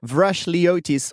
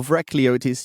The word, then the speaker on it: Vrachliotis: say your last name you say it vrashlyotis or vracliotis you can choose and you picked the second and that was pretty